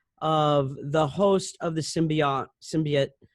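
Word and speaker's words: symbiont: the host of the symbiote? Oh gosh, I'm sure I said that wrong. You said it right, symbiote.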